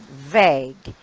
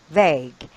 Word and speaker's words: vague: the guide for pronunciation how are you gonna pronounce this bread very good vague so II I and a with long over